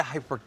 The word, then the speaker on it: hypertufa: Here showing us how to make DIY Hypertufa planters perfect for your spring flowers is Ken. Ken, please explain to me what I just said. Right. I figured that was coming right away. Well, what a Hypertufa?